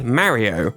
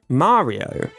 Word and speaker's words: Mario: In British English, we ended up with "Marry-oh", while American English ended up saying “MARio”.